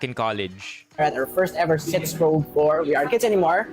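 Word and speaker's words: sitzprobe: Our first ever sits probe for. We aren't kids anymore. But what is a sits probe? It's spelled sit as in chair with a Z and probe as in probe your worth.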